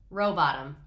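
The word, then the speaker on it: Rowbotham: I shouldn't have been pronouncing the H. Robotham.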